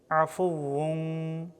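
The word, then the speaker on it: عَفُوٌّ: বামে তা ইফার অক্ষর এ কারণে এখানে তানবিনের উচ্চারণ বাংলায় অনুস্বারের মত হবে ইফা করে পড়তে হবে আফু আফু তুহিব্বুল তুহিব্বুল তুহিব্বুল আফ আফ আইন অক্ষর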